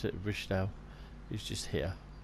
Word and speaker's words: Wiesthal: That's how you spell it, we'll pronounce it, Wiesthal, is just here.